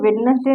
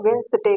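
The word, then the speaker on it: Wednesday: इसको वेडनेसडे नहीं कहते, इसको वेंसडे कहते हैं।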